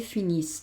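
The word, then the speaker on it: finissent: Finison nufison bufinisé il finis el finis. Acuérdate que esta aunque la escribo, no la pronuncio, con lo cual voy a decir il finis.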